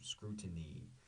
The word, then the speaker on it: scrutiny: The T, like we've talked about before, basically disappears. Scrutiny, scrutiny, scrutiny, scrutiny. The stress is on the first syllable, the ooh, scrutiny. Vital.